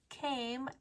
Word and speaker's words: came: Now a cat came out. Now. Again, O-W says ow. N, now. Now a crow came out. Came, C-A-M-E. The E is silent. It tells the A to say its name.